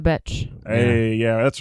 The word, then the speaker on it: Becz: Elżbieta Becz.